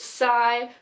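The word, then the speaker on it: psi: also is a weapon it also is pronounced Sai which is like s scaled and icy sigh I also believe that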